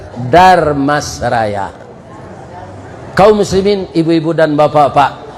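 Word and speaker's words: Dharmasraya: Maka namanya Damasraya. Artinya tu di sini ada uda, ada emas. Uda orang awak, emas orang orang Jawa. Supaya jan patah lidah membacanya ditambah jo R, Darmasraya.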